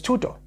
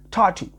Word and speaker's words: tuto: of these names wrong my name is tuto and I've been called Tatu suto tutu so I get it